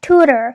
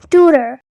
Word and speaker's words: tutor: So it's pronounced as tutor. So the stress is on the first syllable, that is to, and then ter. So it's not really tutor, instead it is tutor.